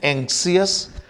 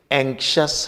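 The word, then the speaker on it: anxious: ऐसे ही एक शब्द है, कुछ लोग इसको बोलते हैं एंक्सियस, पर ये एंक्सियस नहीं, एंक्शस है।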